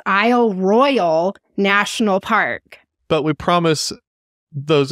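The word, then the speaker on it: Isle Royale: okay yeah you did great yep but it's Isle Royal so know yeah if you didn't know now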